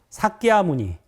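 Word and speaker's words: Śākyamuni: 성자 성인 이런 뜻입니다 우리가 이제 한자로 석가모니 불이라고 하잖아요 근데 그거는 이제 한자음을 우리가 따서 석가모니 부르는 거고 본래 발음은 따라 볼까요 사키아 무니 사아니 사키아 무니 사아니 그게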